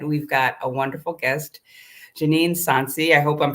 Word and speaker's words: Janeen Sonsie: as I said we've got a wonderful guest Janine sansy I hope I'm pronouncing your name that's absolutely correct and she